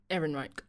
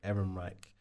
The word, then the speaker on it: Ehrenreich: Erin Reich. Erin Reich.